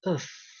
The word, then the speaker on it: œuf: Yang pertama kita baca œuf. Œuf. Œuf artinya satu telur. Tapi kalau telurnya lebih dari satu, kita membaca E. Jadi FS-nya ini tidak dibaca. Un œuf, satu telur.